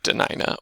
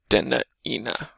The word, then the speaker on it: Dena'ina: of like discussion of how you would pronounce denaina because of the glottal stop in there should it be denina or denda ena right with the apostrophe being a glottal stop another example of a